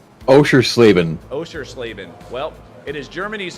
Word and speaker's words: Oschersleben: We're going to be at, help me say this, is it Oschersleben? I think that's how you say it. Oschersleben.